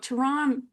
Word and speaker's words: Toronto: I'm gonna say Toronto. Ignore that T. You don't need that extra T. Yeah. Oh, Toronto.